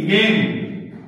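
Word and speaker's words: game: নাম জি এ জি এ পরে এন ই গেম গেম বুঝছেন না জি এটা বয় অথবা আকার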